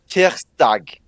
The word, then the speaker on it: tirsdag: Tuesday is tirsdag.